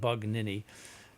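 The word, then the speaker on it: Bugnini: Hannibal Buon bug nin you have to get that pronounced correct bug nin uh and uh the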